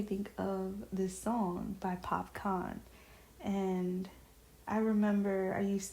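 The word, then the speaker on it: Popcaan: of this song by PopCon. And I remember I used to mispronounce mispronunciate his name. Um I used to say Pop can. So yeah. Now, I know that it's popcon, but yeah, I'm thinking of the song Everything is nice.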